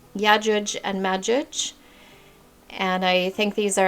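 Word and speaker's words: يأجوج ومأجوج: And this is how you would find it in the Arabic. It says Islamic, but I prefer to say Arabic. Yajuj and Majuj.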